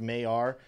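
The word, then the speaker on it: Maiar: Mayor.exchange, I think it's how it's pronounced. Oh, he said, yeah, pronounced Mayar.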